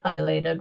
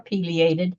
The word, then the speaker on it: pileated: trees you do have a pileated woodpecker or pated depending on how you wish to pronounce it dinner time well these